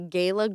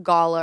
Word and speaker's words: gala: crazy town well it's kind of like the word Gala oh Gayla you can say it I Googled it you can say Gayla Gala or Gala going to